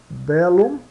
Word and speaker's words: bellum: LL, tienen dos sonidos e se pronunciam separadamente, né?